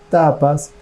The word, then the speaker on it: tapas: El tercer concepto de los niyama, que en sánscrito se pronuncia tapas, está relacionado con la austeridad.